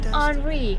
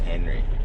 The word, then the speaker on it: Henri: We have Hurricane Henri coming. So. Oh, it's Henry. No, Henri. How do you spell it? Henry with Henry. I think it's just French.